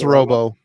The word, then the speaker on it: Robbo: It's Robbo. Okay, Robbo.